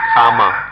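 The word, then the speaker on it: kamma: we understand karma comma karma is the sanskrit pronunciation comma the pali pronunciation if we see that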